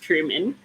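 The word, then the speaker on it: Trymon: I remember it was a name that is pronounced very differently than it's spelled. Truman. Truman, yes. Spelled Tryman, but pronounced Truman.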